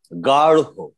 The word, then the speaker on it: গাঢ়: যেমন গাঢ়, সেই রয়ের উচ্চারণের সময় যেটি হবে, রয়ের সাথে একটা হ মিশ্রিত ধ্বনি আসবে।